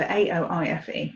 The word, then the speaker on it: Aoife: It's the name, my daughter's name is Aoife, A-O-I-F-E, Aoife.